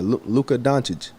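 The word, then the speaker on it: Dončić: Yeah, Luka Doncic.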